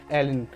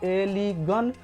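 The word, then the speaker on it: align: आपको दिया गया है एलिन, यानी कि इसका प्रोनाउंसिएशन आपको एलिगन या फिर एलिजन या फिर एलिसन, मतलब ऐसा कुछ नहीं बोलना है, आपको बोलना है एलिगन, एलिन बोलना है।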